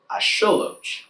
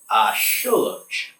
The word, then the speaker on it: axolotl: The x in Nahuatl makes a sh sound, and you usually put the pronunciation on the second to last syllable.